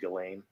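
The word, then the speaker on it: Ghislaine: with this case with galen you could say gizlane or jizz lane but apparently it's pronounced gallane that sounds better to me the weird thing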